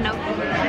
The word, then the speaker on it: gnocchi: That's how you say it, gnocchi.